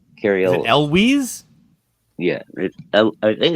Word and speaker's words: Elwes: Well, the guy that's supposed to be playing Iceman in the movie is Kerry Ewells, and I believe that's how you say his name.